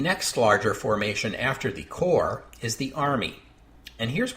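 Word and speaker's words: corps: formation is called a core that's spelled c r PS with a silent PS because the word comes from French in English the plural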